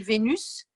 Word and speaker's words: Vénus: dis, pour les planètes, on dit Vénus. Donc, ça s'écrit V-E-N-U-S, on va dire le U, le S. Et si tu dis je suis venue, ça s'écrit de la même façon, mais on ne dit pas le S.